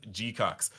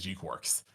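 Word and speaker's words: G-Quuuuuux: That says G-Cucks. But as confirmed by many Bandai staff, it is G-Quarks.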